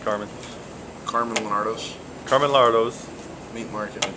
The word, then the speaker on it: Lonardo: How's it pronounced, Carmine? Carmine Lonardo's.